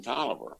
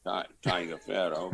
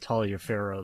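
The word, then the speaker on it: Taliaferro: coach and would allow me to marry fran toliver spelled like virginians do uh t-a-l-i-a uh not pronounced dot tiger pharaoh but uh it's oliver i think the north carolinians pronounce it talia pharaoh though don't they if you meet us um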